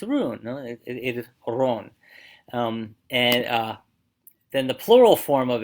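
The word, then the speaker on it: Roon: So the word for rune is spelled R-O-O-N, but it's pronounced Ron. Okay, Ron. Now the important thing with that is that O-O in English, we say oo, in Dutch you say O.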